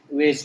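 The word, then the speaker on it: beige: बीस में भी क्या है, इसमें डबल ई वाला साउंड नहीं है, इसको बीज नहीं पढ़ते, इसको वेज पढ़ते हैं, ठीक है।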